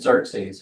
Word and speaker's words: Xerxes: They're, you know, the scary, exertus. What's the guy that? Xerxes.